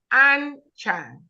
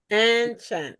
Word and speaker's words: Anchan: It's too It's two syllable. Anchan. Anchan. Anchan. Just two syllable. Anchan.